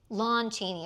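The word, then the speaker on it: Lon Chaney: Is it Lou Cheney or Lom? I thought it was Lom. Lawn Cheney.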